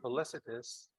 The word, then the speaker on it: felicitous: Remember that the letter C, when it's Fallacious. followed by I or E or Y, we pronounce it as S, right? So it should, Fallacious. is it felicitous?